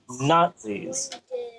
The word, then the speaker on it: Nazis: fun for conversation not there's a t in there it's just invisible it's an invisible t nazis how do you spell